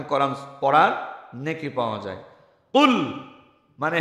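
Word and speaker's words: قل: আহাদ তিনি আল্লাহ এক তাহলে কুল এটা শক্ত কফ উচ্চারণ বাংলায় আরেকটা অক্ষর আছে কাফ এটা বাংলার কর মত স্বাভাবিক উচ্চারণ কোন কষ্ট নেই যেটা কফ আরবিতে একটা শক্ত উচ্চারণ কুল মানে আপনি বলুন এখন যদি আপনি হালকাভাবে উচ্চারণ করেন কুল বলেন বাংলার কর মতো কুল তাহলে আপনি খান কুল মানে আপনি বলুন আর স্বাভাবিক কুল মানে আপনি খান এখন যদি আপনি সূরা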